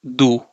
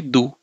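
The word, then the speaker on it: du: And how do you pronounce this one as do, right? So the without E with U will be do.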